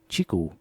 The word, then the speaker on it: QiKU: entered the Indian market Qi KU that's how you spell it but Qi here stands for Chi and hence the name chiku this handset is using